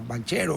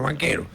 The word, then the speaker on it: Banchero: lo mataron a a banchero o banquero como quieran pronunciar B a n c h e creo que c ca en italiano banquero sí era el mayor